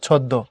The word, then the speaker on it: ছদ্ম: পদের মাঝখানে বা শেষে যদি মফলা যুক্ত হয় তখন সে বর্ণের দ্বিতীয় উচ্চারণ হয়। কিরকম? এই যে শেষে যুক্ত হয়েছে দশ সাথে, দ ডাবল হয়েছে ছদ্ম, শেষে যুক্ত হয়েছে দশ সাথে, দ ডাবল হয়েছে পদ্য এবং নাকের প্রভাব আসছে।